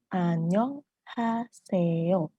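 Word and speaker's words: 안녕하세요: bahasa bahasa Korea apa bilangnya apa Sayur annyeonghaseyo Annyeong haseyo ini cara bacanya annyeonghaseyo Nah untuk kata annyeonghaseyo ini bisa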